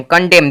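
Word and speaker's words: condemn: कंडेम कंडेम कंडेम देखेंगे यहां पे एम है उसके बाद एन है यानी कि इससे एन का कोई भी साउंड नहीं आएगा म आया है इस एम का अगर एन का भी उच्चारण लेते अगर आप तो कंडेम आ जाता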